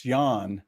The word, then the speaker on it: Jan: It's spelt Jan, but it's Jan.